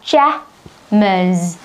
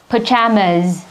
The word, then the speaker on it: pajamas: Ở đây chúng mình quên đánh ở đây, tức là cái trọng âm nó sẽ là pajamas, pajamas.